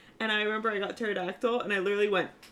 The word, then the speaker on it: pterodactyl: teract why does that start with a P pterodactyl why is the P there thank you I